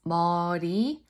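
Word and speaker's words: 머리: Okay, when you pronounce Mori, the tongue taps on top of the roof. Mori. Mori. Mori. It's right above the upper teeth. That's where you need to tap it.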